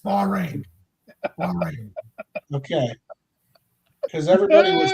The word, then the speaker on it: Bahrain: She I suspects think someone it's pronounced forward- Bahrain, not Baja. I think I'm just putting it out there. I'm so glad you stopped everything. It's Bahrain.